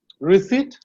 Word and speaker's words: receipt: And receipt. Receipt is also a silent P.